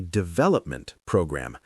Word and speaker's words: development program: For these compound nouns, the main stress falls on the first word. So it's a development program.